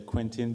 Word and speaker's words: Quentin: Most of the time, English people say Quentin, but in France we say Quentin.